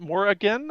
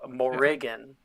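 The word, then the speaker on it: Morrigan: name correctly is it Moran or there's just a slight like elongation of one vowel right so morigan Mor Mor okay yeah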